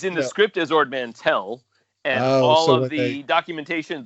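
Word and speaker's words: Mantell: it was a habit yeah so it's it's mantel or is it mandel it's it's mantel and harrison ford mispronounced it in that particular take of empire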